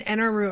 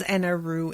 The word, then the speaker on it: Enel: Bernadette says Enel and Enru is because the syllable in Japanese ru is basically pronounced between L and R and the U is silent.